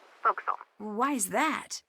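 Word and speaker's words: forecastle: ship but it's pronounced fil why is that try pronouncing it like an English sailor with no formal education F Castle fil over time it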